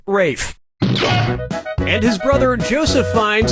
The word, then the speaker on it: Ralph: Ra Fine's first name is spelled like Ralph but pronounced Rafe.